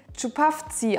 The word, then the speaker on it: Čupavci: mir hat auf Instagram eine Zuschauerin geschrieben: Es wird "Tschupavtsi" ausgesprochen. Auf jeden Fall ist es